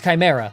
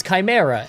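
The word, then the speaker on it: Khimyra: Oh, and that's Chimera, spelled K H I M Y R A. I see people say, "I thought it was Chimera," and spell it like the normal way all the time, but like the website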